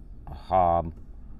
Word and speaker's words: אהב: Ahev. And it'll tell you how to pronounce it. Ahab.